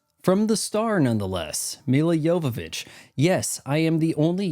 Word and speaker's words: Jovovich: feature the boobies from the Star nonetheless Mila yovich yes I am the only YouTuber who can correctly pronounce her name ah let's see where operating